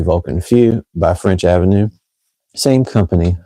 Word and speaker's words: Vulcan Feu: But today going to be doing genuine like overall reviews of Vulcan Few or I think some people pronounce it Vulcan Foy but I've heard it's pronounced properly Vulcan Few by French Avenue.